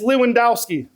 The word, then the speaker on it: Lewandowski: For those who don't know who Lewandowski is, it's Lewandowski. That's just how we pronounce it. You know what I'm saying? But you're supposed to pronounce it like the Polish and speak it proper.